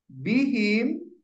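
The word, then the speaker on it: بِهِمْ: tidak kasr gitu ya Iya bihim kenapa bacanya him karena ada Bi bukan karena ada Bi karena sebelumnya yang kedua H dibaca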